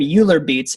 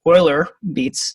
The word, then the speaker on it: Euler Beats: of people call them euler beats apparently the correct pronunciation is euler beats okay this is a mathematician that's how they pronounce his name apparently but this is